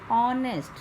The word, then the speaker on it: honest: An honest, starting with H but the sound is of O. H is silent.